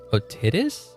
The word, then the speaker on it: otitis: It is otitis.